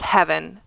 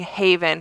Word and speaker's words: Heaven: So one of our volunteers, whose name is Heaven, and I have been saying Haven for at least 3 to 4 shows now. I have been saying her name wrong.